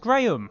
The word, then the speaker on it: Graham: It's pronounced Graham.